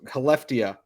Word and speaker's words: Skellefteå: He plays for Skellefteå in the SHL. Good for being you, Scott. I know the S is silent.